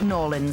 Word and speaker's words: New Orleans: choice but first to New Orleans sorry no an American friend said I must pronounce it Norland so come fly with